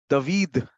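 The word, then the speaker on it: דוד: तो उन्होंने बोला एक बार कि कोई लोग हमें डेविड कहते हैं, कुछ लोग हमें दावीद कहते हैं, लेकिन एक्चुअल जो प्रोनाउंसिएशन है, जो हिब्रू प्रोनाउंसिएशन है, वो है दावीद।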